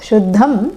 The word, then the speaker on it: Shuddham: Yeah, no need to pronounce the mers, Shuddham and Ashuddham, because it is followed by certain consonants and it takes on the nasal of that consonant, like this.